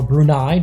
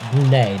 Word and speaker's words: Brunei: Or Brunei, depending on how you want to pronounce it, but here on Marble Fubeca, we're going to pronounce it Brunei.